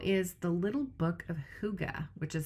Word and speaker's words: Hygge: The other book I'm reading right now is The Little Book of Hygge, which is spelled Hyggge. You've probably seen it around and not known how to pronounce it, but it's Hygge.